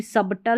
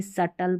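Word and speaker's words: subtle: अब इसको भी सबटल नहीं पढ़ते। सब और फिर टल नहीं सटल पढ़ेंगे।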